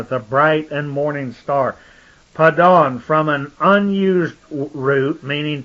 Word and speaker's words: Padan: That was called, but the pronunciation was Padan. Like we remember, Adam was called the Adon. The dawn, the morning star, the bright and morning star. Padan, from an unused root, meaning to extend.